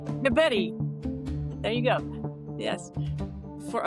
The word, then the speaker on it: DeBettignies: Before the show started, he was saying, say spaghetti. So, DeBetty.